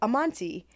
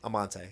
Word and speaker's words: Amante: And you had brought up Amonte. Yeah, Almonte. Amante. Oh, Amante. Yes, we're both saying it wrong. Amante.